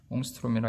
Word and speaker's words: 옹스트롬: 옹스트롬이라 읽는 단위. 원자의 지름은 대개 이런 옹스트롬 스케일이다.